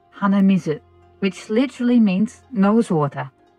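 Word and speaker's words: 鼻水: is also okay and if you want to know how to say it it's read as hanamizu which literally means nose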